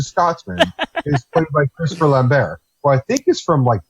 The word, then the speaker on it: Lambert: Look up, when you get a moment, look up Christopher Lambert, or Lambert, if you want to be phonetically.